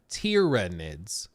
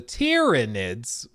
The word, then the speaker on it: Tyranids: when like the main faction you're fighting are tyranids there's no U it's like a y so